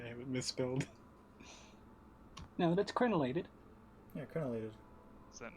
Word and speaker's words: crenellated: it's it literally says krelinated i think i haven't misspelled now that's crenellated yeah colonel is that not what i said crenellated you were saying krell not krenn oh crellinated instead of